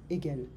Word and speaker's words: Hegel: Remember, in French we don't pronounce the H. So I'm going to say Hegel. Hegel.